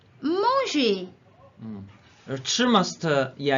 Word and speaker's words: 吃: 吃 Manger. 吃 must yeah you must roll your tongue okay 吃吃 yeah cannot be